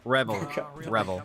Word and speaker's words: Revell: You had one job to pronounce my name right. Last thing Matt said to me. Anyway, yeah. Revel.